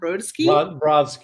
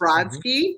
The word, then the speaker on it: Brodsky: his literary interviews which have included I can't pronounce can you tell me yes thank you Joseph broke wrote and wrote that Broski yes Brodsky thank you A.R Ammons Richard Blanco Evan Bolin